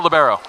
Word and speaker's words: libero: Libero. It's a French, maybe barrel. I don't know. Should we really screw people up and call it a libero? Libero. Yeah, That's the other way it's pronounced.